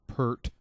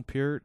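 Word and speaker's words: Peart: a Neil P clone I'm sure most of them are saying in their minds Neil per and some even spell it that way but anyway it's not a shampoo and uh no I'm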